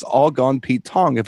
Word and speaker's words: Pete Tong: So, a a cochnney phrase is it's all gone Pete Tong because wrong rhymes with tong.